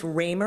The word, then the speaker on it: Ramer: will hear evidence that Chief Ramer and I am I pronouncing that right I am thank you Chief Ramer of the Toronto Police